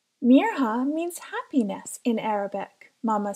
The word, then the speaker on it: Mirha: school the next day my name is mirha not Maya she told Hayden proudly and explained how to pronounce it properly I'll make sure to see your name right from now on Mir huh said Hayden I'm also